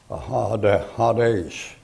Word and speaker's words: Hades: When you take that and transliterate it, you get Hades. And as that's a long A in there, Hades, like that.